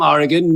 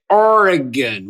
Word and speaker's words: Oregon: I am from Oregon. New Orans sometimes say Oregon, which sounds very loot to me, and I wish that's how we pronounced it, but it's Oregon, not Oregon."